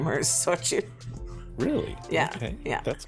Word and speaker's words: Xochitl: So we have Fireheart, Ravenwood, Zenor, Whisperwind, Starforge, Zutchitl. No, I knew you were going to say that wrong. I don't know how to pronounce that. That's like Mexican. It's Xochitl.